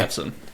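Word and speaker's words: Maatsen: I'm pretty sure Matson. Yeah. Very good. Um, hang on. How do you spell it?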